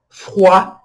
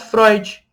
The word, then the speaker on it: froid: Froid, que é frio. Froid, tá vendo? Cuidado para não pronunciar Freud. Freud. Não, é froid. O D não é pronunciado e o OI tem o som de UA.